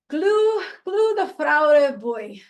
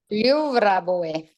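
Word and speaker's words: Gljúfrabúi: And then just down the way, about a 5-minute walk, is Glu the Fraurebuy. Did I say it right? Nope. Oh, you're muted. Gljúfraboy.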